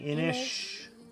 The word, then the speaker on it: Inis: on your side already so we're saying inish and it's uh May